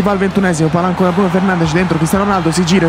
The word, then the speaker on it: Bruno Fernandes: un uomo non da nulla come Bruno Fernandes, pronuncia corretta, Bruno Fernandes.